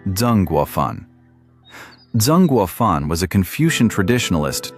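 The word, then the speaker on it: Zeng Guofan: Most prominent among them, the Xiang army of Zhengguofan, pronounced Zhengguofan.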